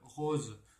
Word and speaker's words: rose: AU, en général, non, tout le temps doit se prononcer fermé, sauf dans le prénom Paul, et rose se lit fermé aussi, pour d'autres raisons, pour la combinaison OSE.